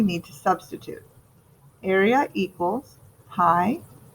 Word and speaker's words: pi: point out that hi you say it like this pi it's a number it's